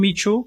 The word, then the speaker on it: ME2: me2 né na verdade a gente passou a pronúncia de mitu agora recente mas eu adoro o conceito de mitu é é mitu mitu